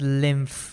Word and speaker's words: lymph: And it's pronounced as lymph with an F over there.